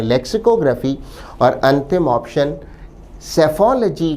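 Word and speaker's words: psephology: इस शब्द में पहला लेटर पी साइलेंट रहता है।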